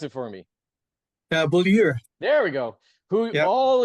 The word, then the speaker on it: Beaulieu: And guest A2, pronounce it for me. Beaulieu.